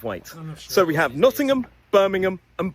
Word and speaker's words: Birmingham: So, when a place name ends in those three letters, H A M, we don't pronounce it as ham.